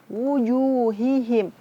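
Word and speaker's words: وُجُوهِهِمْ: Wujuh, wu-nya nggak panjang, maksudnya wujuhihim. Harus dimonyongkan. Ju juga dimonyongkan.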